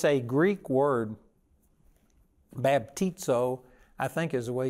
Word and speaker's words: baptizo: The word baptized, it's a Greek word, baptizo, I think is the way you pronounce it.